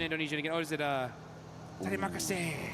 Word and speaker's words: Terima kasih: Oh, is it Terima kasih, right?